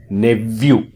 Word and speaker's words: nephew: സഹോദരപുത്രൻ, NEPHEW, ഉച്ചാരണം നെവ്യൂ.